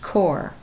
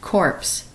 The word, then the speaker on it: corps: And this, if you've been in the military, you know this is pronounced corps, not corpse.